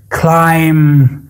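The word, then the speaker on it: climb: صدا هسته و چه زمانی در کلمات صدا نمیده وقت بی در آخر کلمه قرار بگیره و ما قبل بی حرف ام قرار بگیرن یا حرف ایم باشه در او صورت او حرف بی تلفظ نمیشه کاملاً بی صدا هسته کاملاً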